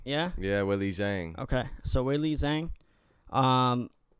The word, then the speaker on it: Weili Zhang: Yang, I think the Z is silent. So Weili Yang. No, I think it is Weili Zhang. Yeah. Yeah, Weili Zhang.